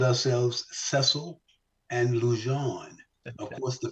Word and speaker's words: Sesil: Cecil around and put S's and made it cesil which is the correct pronunciation of the name yeah so we became